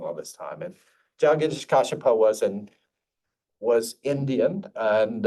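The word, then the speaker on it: Jagdish Kashyap: H H um uh I pron I always pronounce it wrong jagadesh kasapa I used to say jages kasapa now I I'm told I've been pronouncing it wrong all this time and jish kipa was an was Indian and um from from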